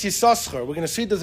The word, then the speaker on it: Yissachar: How do you pronounce Yissachar? Ben Osher said the second sin is silent.